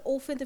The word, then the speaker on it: often: Like when we say there are often flowers on the doll's apron. هنا في عندي often. The T is silent in often. So you can't hear the T in often.